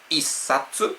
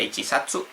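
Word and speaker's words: 一冊: Satsu Isatsu no se dice ichatsu Isatsu va decir una revista, un libro, un manga.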